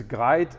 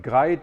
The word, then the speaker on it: GREIT: You pronounce it GREIT, or if you're a real Norwegian, it's more like GREIT. But we allow you to say GREIT, like a bit like great.